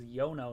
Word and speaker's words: Yono: This is Yono, not Yuno.